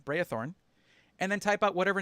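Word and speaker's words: Braethorn: all over the channel it's b-r-a-e not e a b-r-a-e thorn brayathorn and then type out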